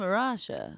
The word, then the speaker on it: Arasha: it the same what is it and I'm a Rashia yeah that's how you have to say that's